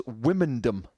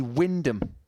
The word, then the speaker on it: Wymondham: I thought it was Wymondham. It's actually Wyndham.